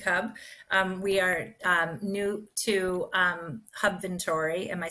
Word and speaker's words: Hubventory: We are new to Hubventory.